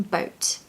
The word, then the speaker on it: boat: now a pronunciation tip make sure you pronounce the T on the end of boat um the T sound